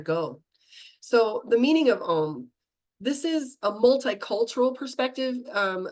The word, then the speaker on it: Om: So the meaning of Om, this is a multicultural perspective versus just one, like the Vedic practice.